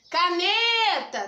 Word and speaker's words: caneta: Caneta! Tá vendo que o neta, eu fiquei um tempão falando? O ne é a sílaba tônica.